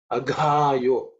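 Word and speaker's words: अघायो: In terms of pronunciation, aghayo. Gha is 4th letter in the ka varga, so it has to be aspirated.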